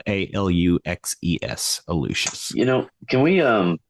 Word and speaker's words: Aluxes: you just search for alucius it's spelled a-l-u-x-e-s uh we use the Spanish pronunciation for the word um uh on Instagram